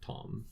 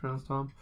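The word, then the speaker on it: Thom: soundtrack is or tom is it Tom or thong I just said it's spelt thumb but it's pronounced Tom it is Tom well Tom York holy this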